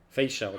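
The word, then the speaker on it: Feixiao: Fei Xiao, that's how you say it. Face shadow, Fei Xiao, okay.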